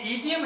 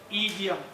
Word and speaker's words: idiom: अब ईडियम क्या होता है, मुहावरा, नाम सुना ईडियम, तो ये ईडियम है, आई डोंट नहीं है डायरेक्ट ना, इट is incorrect pronunciation, ईडियम, मुहावरे।